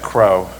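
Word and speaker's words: Cros: Once, mid-morning, and this is in the class of Chef Crow. Crow is spelled C-R-O-S, but you should really think of it as C-R-O-W.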